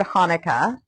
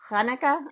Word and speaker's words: Hanukkah: The Hebrew word is actually pronounced with a guttural kh sound. Kanuka, not tanuka. Hanukkah. I don't know how to pronounce it. I'll say Hanukkah.